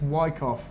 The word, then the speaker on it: Wyckoff: Apparently it's Wyckoff. Wyckoff. I've always said it wrong.